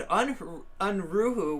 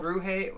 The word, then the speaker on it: Unruhe: the debate with Jason Unruhu was a banger. I haven't seen that either. That they should condemn the masses and never have any relevance or power. Unruhe, I always pronounce his name wrong.